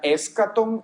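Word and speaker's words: ἔσχατον: La escatología, de nuevo, es una palabra compuesta de una que se pronuncia escaton y logía.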